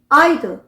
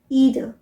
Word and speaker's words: either: जैसे मैंने बताया था ना वीडियो के बिगनिंग में, EITHER, ब्रिटिश प्रोनाउंसिएशन हुआ आइदर, आइदर, जबकि अमेरिकन प्रोनाउंसिएशन होगा ईदर, ईदर।